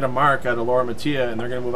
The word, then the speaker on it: Mattia: See, I always pronounced Laura's last name Matilla, obviously incorrectly, and she leaves another back-to-back 2-4-5. And her husband Steve, I know Steve, but I've never really asked him the correct pronunciation. I'm sure they'll probably correct us once we get this on the air if we are wrong. But isn't that Spanish when you the 2 L's make a Y sound?